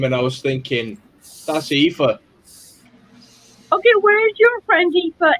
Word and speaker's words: Aoife: I've just realised that's pronounced Aoife, isn't it? Yes, it is. Okay. I have a friend in Ireland with the same name, and I was thinking, That's Aoife.